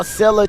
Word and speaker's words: Scylla: Stop mispronouncing Sila, as they say in the chat. I don't think they were listening to me clearly. As Sila able to control the ball cleanly, playing the